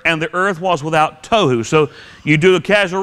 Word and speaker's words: tohu: word it's the word tohu tohu in English it's spelled just like it sounds t t o h